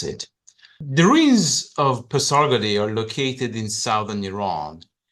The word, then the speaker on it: Pasargadae: Today I'm going to talk about the site of Pasargadae or Pasargad as the Iranians pronounce it. The ruins of Pasargadae are located in southern